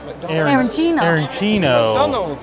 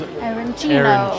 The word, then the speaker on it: arancino: Yeah, if there's a fast food, I want to try me some arancino. She did say the proper way to say it here is arancino.